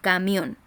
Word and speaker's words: camión: La palabra camión. Camión. Camión. ¿Cierto? La voz se carga en la última sílaba.